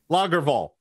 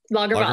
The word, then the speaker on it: Lagervall: Lager, like the beer. Yeah. Okay. Lagervall. Lagervall.